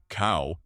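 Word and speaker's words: เก้า: In Thailand, the number 9 is considered good luck because its pronunciation, cow, also means progress or advancement.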